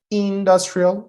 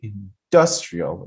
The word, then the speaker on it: industrial: You cannot say industrial. You have to say industrial. industrial. So you put the stress here and that's how the word is stressed.